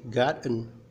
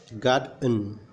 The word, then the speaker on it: gotten: be able to be gotten by my friend. Gotened berasal dari kata kerja get goten. Jadi kalau ada yang membaca gotten, gotten salah. Cara membacanya yang benar adalah goden.